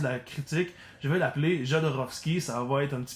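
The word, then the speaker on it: Jodorowsky: Je pense que Hodorovski se prononce comme ça normalement, mais j'ai un peu une misère à le prononcer comme ça.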